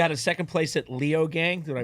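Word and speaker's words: Leogang: You had a second place at Leo Gang. Did I pronounce that right?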